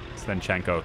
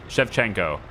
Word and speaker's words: Shevchenko: The Taras Svenchenko thing. I don't know how you say it. Shevchenko. Yeah. Taras Shevchenko.